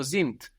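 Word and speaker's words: sind: i n d so we have the S pronounced like a z there and the D on the end of the syllable pronounced like a t z zint the children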